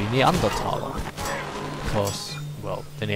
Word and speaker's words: Neanderthal: who are you a neanderthal neanderthalo how do you pronounce them Neanderthal but the correct German pronunciation would be neanderthala of course well in